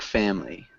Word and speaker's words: family: So it just sounds like family. Okay. Family. So No? close. Try to drop that I sound.